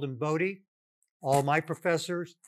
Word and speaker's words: Bode: dr hendrick wade boda it's a dutch name and the dutch pronunciation is voda his family preferred the